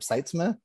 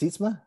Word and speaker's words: Seitzman: talked to and i i'll mispronounce his last name robert seitzman and it's sisma and he was saying